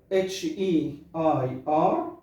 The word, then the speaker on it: heir: طيب air A-I-R اللي هو الهواء، اتموسفير، واير H-E-I-R او air لو مش هننطق الار اخر الكلام، يبقى the person who inherits something، الوريث. يبقى الوريث اسمه heir.